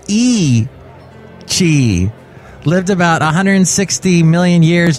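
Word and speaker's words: Yi qi: long ago before the birds the dinosaur named Yik key meaning strange wing and Mandarin and pronounced oh it's pronounced e she lived about 160 million years during the Jurassic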